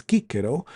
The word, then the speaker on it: Cicero: I just pronounced that in the classical form, which is Cicero, in his prosecution against